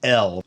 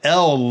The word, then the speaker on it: El: translation we're going to be using it's spelled phonetically as ilu so when you see U on the screen that is L the high god of the Canaanite Pantheon now